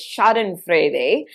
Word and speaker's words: schadenfreude: german word for this and it if i pronounce it correctly it's schadenfreude and the idea is that it is literally